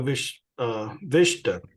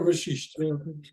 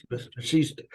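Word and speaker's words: Vasishtha: Brother, I'm going to read a little bit of commentary on the Yoga Vishta. Yoga Vashishta. Vashishta. But anyway, you might have to help me on the pronunciation here, but it says in Vedanta, the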